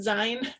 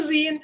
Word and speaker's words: zine: have been pronouncing it sein it's a scene it comes from the word magazine and just like a